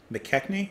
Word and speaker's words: McKechnie: licorice yeah licorice mcken mckechnie mckechnie i think is how you pronounce their name uh so